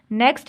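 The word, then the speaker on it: knock: है sign letter है design ठीक है डिजाइन नेक्स्ट है थंब नहीं बोलते हम इसको थंब कहते हैं तो यहां पर 20 साइलेंट है था टॉक टॉक इसमें टी ए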